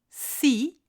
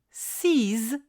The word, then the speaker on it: six: Et enfin, le numéro 6 se prononce six si le mot qui suit commence par une voyelle ou un H muet. Par exemple, 6 oranges, 6 heures.